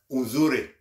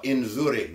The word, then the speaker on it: nzuri: Unzuri or inzuri, not un, in. Inzuri. It's the N in front. N-Z-U-R-I.